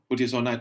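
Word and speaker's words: budesonide: nasal corticosteroid to other corticosteroids for instance from buddhist knight to kluti kazan what do you think i hope i got that pronounced right yeah that's right uh buddhisonite and futicazone so basically why people want to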